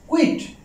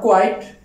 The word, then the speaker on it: quit: Alright, the first one is quit. Quit, not quite. Most of the students pronounce this word quite.